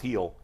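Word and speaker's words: Gil: heel he spelled g it's pronounced heel this kid has been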